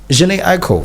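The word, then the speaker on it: Jhené Aiko: and it sounds nice I mean it's like Jhene Aiko so what's yes yes that's how you say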